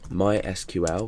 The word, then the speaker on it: MySQL: going to be using the database um MySQL which is sometimes pronounced my SQL and um SQL stands